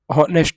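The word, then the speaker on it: honest: नेक्स्ट ऑनेस्ट बॉय क्या है यह? देखो एच यहां पर साइलेंट होता है। ऑनेस्ट बॉय बोलते हैं। इसको बोलते हैं ऑनेस्ट बॉय।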